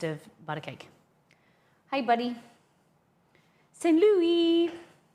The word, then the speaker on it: St. Louis: St. Louis.